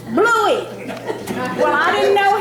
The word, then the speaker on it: Bluey: Bluey. Well, I didn't know how to spell it, so I didn't put it on your side.